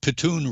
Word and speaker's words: Pitun: mr patoon is that pitune rhymes with spittoon but this is one